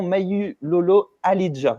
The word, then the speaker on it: Mawulolo Ahlijah: Mayu Lolo Alidja, je l'ai bien prononcé.